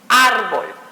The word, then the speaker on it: árbol: Podemos dar otro ejemplo como sería árbol, es más simple, árbol, ¿ok? Árbol termina, aquí está la palabrita, árbol, ¿sí? Si la divido es árbol. Última sílaba, penúltima sílaba. ¿Dónde sonó más? Árbol.